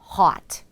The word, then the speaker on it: hot: 핫이 아닌 hot, hot.